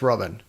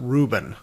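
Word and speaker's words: Rubin: weil and robin naiman robin i think it's robin it's spelled r-u-b-i-n i know that's definitely not reuben they said reuben in the book but r-u-b-i-n is robin uh yeah so the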